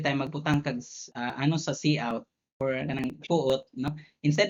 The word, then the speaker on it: cout: By the way, not co-out, that's cout.